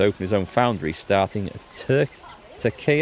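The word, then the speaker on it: Türkiye: his own Foundry starting tur tea is how you pronounce it that's how we're supposed to call Turkey now right tea base family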